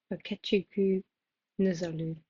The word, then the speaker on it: Okechukwu Nzelu: Sorry, that is such a bad pronunciation. Like, I will put a voiceover here of me actually saying the right pronunciation of this. Okay, editing Eve here to say the correct pronunciation is Okechukwu Nzelu.